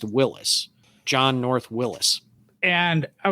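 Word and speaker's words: Willys: how you pronounce it it is spelled w-i-l-l-y-s through the history of the whole company but the family name is pronounced willis john north willis and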